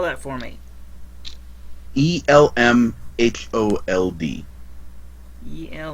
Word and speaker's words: Elmhold: Elmhold. Spell that for me. Elmhold. E-L-M... Like holding some elm. H-O-L-D. Elm Mhm. hold. Like holding an elm.